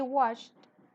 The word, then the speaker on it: watched: good movie Bueno entonces acá termina en ch me acuerdo por allá que este es unvoiced que no tiene sonido vibración en la garganta entonces terminan de la pronunciación She watched a good movie good